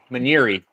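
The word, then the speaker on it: monnieri: Maniri is how they say it.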